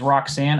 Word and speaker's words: Roxanne: started on second yep the first name is Roxanne ro X a NN e last name is